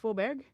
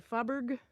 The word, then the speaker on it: Fåberg: But F-A with a circle over it, B-E-R-G is pronounced Fåberg. But if you don't know and you're pronouncing it with an English pronunciation, it'd be easy to say Fåberg. American would say Fåberg, and then that could sound like father over time.